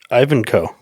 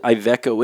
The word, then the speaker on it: Iveco: Yeah, I think it's Ivanco. Is that how you say it? There's no N.